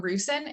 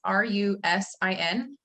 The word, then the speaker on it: Rusin: John Rusin. It's Rusin.